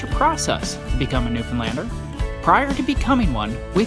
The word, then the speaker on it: Newfoundland: is intense and a Newfoundland a blue star is also a beer and it is pronounced Newfoundland not new found land or no Finland Newfoundland is the oldest